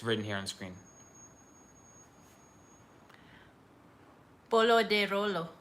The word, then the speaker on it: Bolo de Rolo: Bolo de Rolo. Bolo de Holo. Got it. R's are H's.